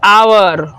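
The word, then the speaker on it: hour: आप देखेंगे कि वैसा वर्ड जो एच से शुरू होंगे लेकिन उसको हम साइलेंट मानेंगे। जैसे एग्जाम्पल के लिए होता है an honest, HONEST, an honest man, एन आवर, N honourable person, N honourable person, ETC।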